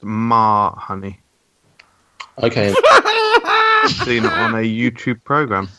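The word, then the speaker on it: mas huni: and eaten with flatbread I actually do know this one it's pronounced ma honey okay I'm a YouTube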